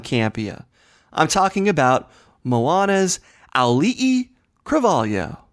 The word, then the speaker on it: Auli'i Cravalho: I'm talking about Moana's Auli'i Cravalho. Auli'i Cravalho.